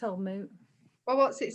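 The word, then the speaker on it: Old Mout: It says Old Moot rhymes with fruit.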